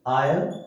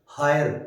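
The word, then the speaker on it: heir: तो इनमें H silent है बेटा, ठीक है, हम इसको हावर नहीं बोलेंगे, हॉनर, होनेस्ट, हायर, ये नहीं बोला जाता, एच is silent, honour, are, honest, आयर, तो इन सब के सामने क्या आएगा बेटा, एन।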